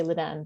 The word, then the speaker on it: Leiden: always say Leiden and I always want to say Ledan, but that's or no, wait, the other way around. No, I want to say Leiden and you say Ledan. I always have the opposite pronunciation in my head is what I'm trying to say. Yeah. No, it's Leiden. It's Leiden, okay.